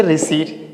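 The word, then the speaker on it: receipt: इसे बोलेंगे स्यूडोनम, इसे बोलेंगे रिसीट, इसको बोलेंगे न्यूमोनिया।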